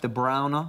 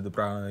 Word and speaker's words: De Bruyne: Actually pronounced De Bruyne, as Patrick Van Straten likes to point out to me most days. Is it actually? De Bruyne. Is it? Well, it's closer to De Bruyne, yeah, because it's Flemish, right?